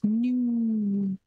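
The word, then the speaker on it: ν: this uh pronunciation of the pronunciation for viscosity symbol is nu okay like that feeling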